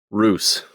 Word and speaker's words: Roose: is giving this message Roose okay she starts writing Roose is that two s's spell it however you like okay r o o s e perfect like moose and what should this